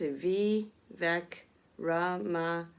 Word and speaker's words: Vivek Ramaswamy: Other pronunciations making the US list include the name of biotech entrepreneur and Republican presidential candidate, okay, Vivek Ramaswamy, pronounced Vivek Ramaswamy, and the late Carl Lagerfeld's cat, Chopet, pronounced Chopet, who made headlines as the Met Gala honored the late Chanel designer.